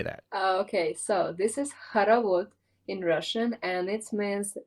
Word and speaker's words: Khorovod: I probably butchered Khorovod. How do you say that? Okay, so this is Khorovod in Russian, and it means the dance when you're holding hands to other people and going around.